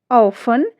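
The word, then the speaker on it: often: Rules हमारा क्या कहता है, STEN या STLE से अंत होने वाले कई शब्दों में टी जो है वो साइलेंट रहता है। स्पेलिंग से देखिए, लिसन, फाशन, काशल, ऑफन, ये जो हमारी स्पेलिंग्स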